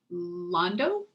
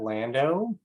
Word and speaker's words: Lando: see a raised hand pat londo please forgive my mispronunciation or correct it please go ahead uh yeah it's pat lando but i'll answer to